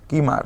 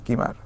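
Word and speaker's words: Kilmer: ভালোবাসা খুঁজে নিয়েছিলেন জয়েস কিমার হ্যাঁ এল টা উচ্চারণ হয় না জয়েস কিমার ওকে এরপর দেখি ট্রুথ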